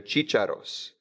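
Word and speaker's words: chícharos: chicharros most cheat shadows know the accent there Cheech arrows and cheated off that's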